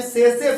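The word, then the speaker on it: tsetse: सेसे फ्लाई, इसको क्या पढ़ते हैं, सेसे फ्लाई, सेसे टी साइलेंट, है ना।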